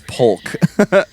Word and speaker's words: Polk: Plock, or how do you say that? That's Polk. Polk? Polk, not Plock.